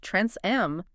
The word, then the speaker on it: Tranceam: We've got a pronunciation guide here, and it turns out TransSquareAmp is pronounced Trans-M.